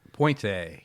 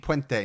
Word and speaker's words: Puente: Not Poente. Poente. Not the easiest word or name to say.